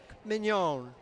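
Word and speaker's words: Mignone: Nick Mignon. The E is silent.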